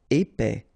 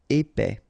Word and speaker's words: épais: enterré épais final s not pronounce e together é et ép épais calme final not here